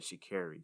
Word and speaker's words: Sha'Carri: I watched her in an interview, and she said Sha'Carri. So don't castrate me, guys, if I mispronounce her name. But I'm pretty sure it's Sha'Carri.